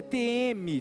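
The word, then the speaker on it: τιμή: Grego é time time mas se pronuncia TM t a pronúncia t e e me um T 2 e um m e 2 e mas se escreve t i m e e daí o que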